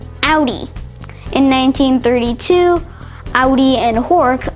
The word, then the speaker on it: Audi: Well, in German, if you see the letters AU almost anywhere, it will probably be pronounced Au. And that's the case here, where it's not pronounced Audi, but rather Audi.